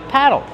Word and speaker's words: paddle: Paddle. Use a short ass sound like black cat. Paddle. Plus a short ol sound like in table and bottle.